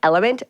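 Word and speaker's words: LMNT: com austin a f so it's pronounced like element but it's actually drink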